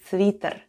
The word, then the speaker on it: свитер: The first sound is S, then goes V, I, T, then goes letter E, and in this case it sounds like E, and then we have R at the end, and all together it's свитер.